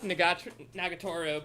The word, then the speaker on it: Nagatoro: I did not just pick Nagatoro because of Dakota.